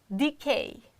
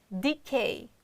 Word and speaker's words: decay: Or the next one, decay, decay, you see, E, decay. K is strong syllable, therefore we can't reduce the sound, but we can reduce the first syllable, which is unstressed, and it is a sound.